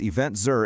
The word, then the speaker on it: EventZR: And if you're a DMC, tour operator, convention and visitors bureau, or event planner, event ZR, pronounced event Zur intelligence, maps 249 destinations, their event calendars, venue infrastructure, and tourism readiness scores.